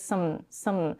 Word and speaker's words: some: She doesn't say something. She says some. She reduces the cup sound to a schwa.